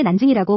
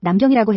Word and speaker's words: 난징: 참고로 남경은 현재 난징이라고 부르는 그 도시예요. 과거 한국에서는 한자 발음 그대로 남경이라고 했지만 지금은 중국어 발음에 따라 난징으로 표기하죠.